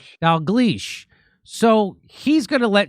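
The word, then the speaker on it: Dalgleish: uh, Professor Angus, uh, I can't pronounce his last name. Uh, how do you say his last name, Nick? Dal Gleas. Dal Gleas.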